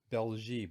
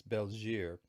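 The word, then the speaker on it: België: the bell jeer and i used to pronounce it belgium but it's not it's belgier and that's this is the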